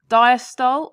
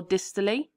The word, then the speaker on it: diastole: into three stages now people pronounce this differently so i'm going to say both diastole or distally atrial systole or atrial